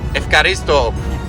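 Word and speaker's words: ευχαριστώ: Efkaristo. Efkaristo, my friend.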